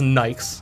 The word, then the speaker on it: Nike: does I did Asya we say Nike rest the world says nice yeah like there's another